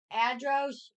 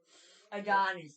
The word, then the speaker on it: Adonis: It's the one I don't even know how to pronounce. Which one? Which one? The first guy. The Adonis. Adros or Adros?